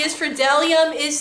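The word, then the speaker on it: bdellium: is silent the b the b is for dellium is silent let's see n is for not there's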